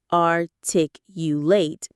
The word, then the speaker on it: articulate: When we use to articulate are tick you late, same pronunciation.